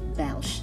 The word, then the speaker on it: belge: Moi, je suis Belge. Stress at the G and S is silent.